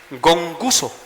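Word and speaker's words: γογγυσμός: La palabra griega para murmuración es gonguso. Así se pronuncia en español, gonguso.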